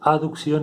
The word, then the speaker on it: aducción: de abducción a producción acá no está la letra e pero para pronunciarlo diferente se pronuncia aducción y abducción en el sentido del